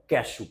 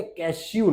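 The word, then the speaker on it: cashew: Andrew and कैशू, काजू को कैशू बोलते, कैश्यू नहीं बोलते, ओके।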